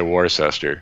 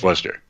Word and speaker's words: Worcester: Most people would say Worcester. Right. You know? Yeah. Exactly. But it's Worcester. And we pronounce it more like the English do because they're all English names.